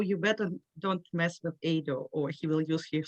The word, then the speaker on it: Edo: i really appreciate it you pronounce my name as ado and and the full